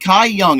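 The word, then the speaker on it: Kai-Yong: do you spell it Kai young it's k-a-i hyphen y-o-n-g Kai yongo our uh producer yeah I think he's so yeah totally like Cobra Kai and then young is like the word young almost but without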